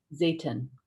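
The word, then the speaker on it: Zeytin: How do you pronounce that? Zayton.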